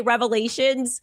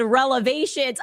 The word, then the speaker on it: revelations: We're going to scroll through 300 episodes and look, she meant to say revelations, but she said relevations.